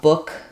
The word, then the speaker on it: book: a follow-up question about book rhyming with buck and that's actually not true um so Buck has the uh vowel like in such fun um and book has the O vowel like in good book and so um for